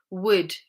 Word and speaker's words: would: It has to be L right after the vowel and the vowels are in the middle of the word. Would.